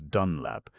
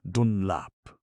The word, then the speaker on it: Dunlap: it in this way, Dunlap. That contented his eye, but left his ear unsatisfied, for people gave the new name the same old pronunciation, emphasis on the front end of it.